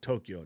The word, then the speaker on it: Tokyo: And the amount of people that turn both of those cities into 3 syllables hurts my face. It's Kyoto and Tokyo, not Tokyo and Kyoto.